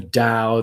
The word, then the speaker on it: Tao: from Lao Tzu: "The Tao that can be spoken is not the true Tao." And it's spelled DOW as opposed to DAW, and it was what's her name, the blonde woman.